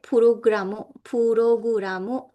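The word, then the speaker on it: プログラム: Saba means server, which is Japanese, but in Japanese it's pronounced as saba. All right, puroguramu, which means program in Japanese.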